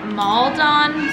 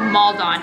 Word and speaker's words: Maldon: This is Maldon salt, I think is how you say it, but it's like that flaky, chunky salt that is delicious.